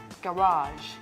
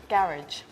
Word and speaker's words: garage: the result is okay this word has got two different pronunciations the first pronunciation which you showed us garage garage garage garage the second way to pronounce this word which is actually used in the states is garage bomb blood oh I'm